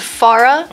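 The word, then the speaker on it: Pharah: your mind he's a really good pharaoh anyways I'm not watch actually it's pronounced Farah oh okay yeah it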